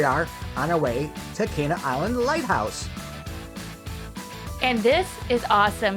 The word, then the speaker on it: Cana Island: check in later to make sure it is pronounced Kaa Island by the way um my mistake learn that afterwards but here we are on our way to Kaa Island Lighthouse and this is awesome because um this